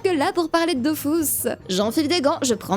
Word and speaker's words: Dofus: Dofus. Alors je t'arrête tout de suite, personne dit ça en fait, tout le monde dit Dofus. Ouais, je sais, mais premièrement, les développeurs, eux, le prononcent Dofus.